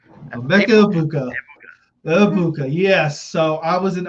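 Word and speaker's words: Egbuka: And another pass catcher onto the Tampa Bay Bucks, Amecha Ibuka. Yep. The G is silent. The G is silent. Mecha. Ibuka.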